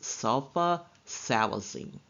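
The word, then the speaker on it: sulfasalazine: name for Omeprazole is Prilosec and lastly there's sulfa salazine it is pronounced sulfa salazine it's a medication used to treat a couple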